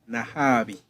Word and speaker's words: Nahabi: guest, a lady in our midst, Madam Sarah Nahabi. Have I pronounced it well? I can pronounce it. Nahabi. Yeah. Oh, sorry, I said it the other way around. Do you know pronounce it? Sarah Nahabi.